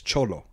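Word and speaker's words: Xolo: to pronounce his name his first name is x-o-l-o and I think x-o-l-o and I think he pronounces that as cholo cholo maridueña that's his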